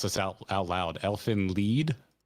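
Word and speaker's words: Elfen Lied: Elfin lead. Elfin lied. That's how I always heard it said.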